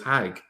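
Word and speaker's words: חג: In Hebrew, the word is Hag. Hagg.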